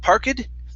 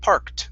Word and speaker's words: parked: here okay uh so instead of parkid this is parked with the t sound parked parked okay very